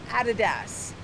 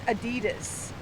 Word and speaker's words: Adidas: I have an American friend that I discuss this with, Adidas, and it's Adidas. There's a slight variation on how you pronounce the word Adidas, Adidas.